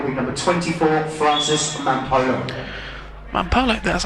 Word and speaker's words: Mampolo: Mampolo, that's how you say it.